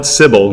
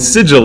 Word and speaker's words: sigil: sons of fenor saying thou Shan call it cibil neither shall you call it signal and sigil is the right out thus it shall forever